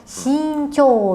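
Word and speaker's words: 身長: Ni ini kanji tubuh yang ini kanji panjang tapi dibacanya apa? Hai jawabannya yang betul adalah singo minasang. Singnya ini kanji sing ini ya kanji tubuh conya co panjang. Jadi shingo artinya bukan panjang tubuh. Tapi tinggi badan.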